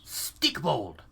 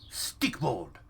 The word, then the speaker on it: Stikbold: amazingly hilarious and funny it's stick bold I think I'm pronouncing that right stick bold I believe it's Nordic but it's stick bold stick bold is pretty